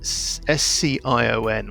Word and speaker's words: scion: How do you pronounce that? Scion, when you're like the heir or the Scion, isn't it?